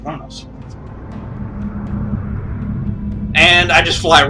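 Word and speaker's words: Qo'noS: Even though it's Q-O-N-O-S, it's actually pronounced Kronos.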